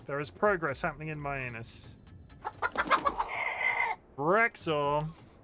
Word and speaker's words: Myannus: It's spelled my anus.